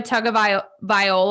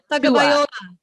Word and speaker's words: Tagovailoa: So Bama, the University of Alabama had Tua Tagovailoa. I can always never say his name. Tagovailoa.